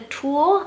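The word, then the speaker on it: Thule: The one that I do have my eye on is the Tool. I think that's how you pronounce it, T-H-U-L-E.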